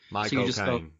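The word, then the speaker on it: Michael Caine: You say my as in possessive cocaine, the drug. My cocaine. Yeah, that's literally it. That's all you got to do. My cocaine.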